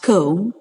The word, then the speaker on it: comb: was a small comb see OMB pronounced comb that lay by the